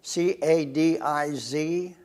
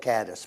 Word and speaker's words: Cadiz: you spell it again c a d i z z same as spain cadiz spain we call it caddis but they call it cadiz high school when did